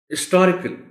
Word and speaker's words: historical: Historical, historical, historical. अब इसमें एक तो H साइलेंट है, historical इसको नहीं बोल सकते आप, historical, historical. और दूसरा इसका जो स्ट्रेस है वो S पर है.